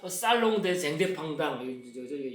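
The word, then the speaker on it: Salon des Indépendants: 같은 해 창립을 하고 이제 같은 해 연말에 협회 주최로 제1회 독립미술가 살롱전, 그래서 요거를 보통 줄여가지고 살롱 대 쟁대팡당, 불은 연음되니까 살롱 대 자티스테 쟁대팡당 이렇게 되는데요.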